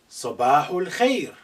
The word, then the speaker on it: sabahul khair: Note this al khair, because this alif is not at the beginning, is been suppressed in terms of pronunciation. It's silent, it's not said.